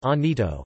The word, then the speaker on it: Llanito: Gibraltarians often converse in Lanito, pronounced Anito, a vernacular unique to Gibraltar.